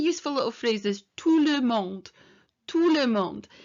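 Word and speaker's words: tout le monde: little phrase this tulum tulemond and the t here at the end of the two is silent so bonjour touremont bonjour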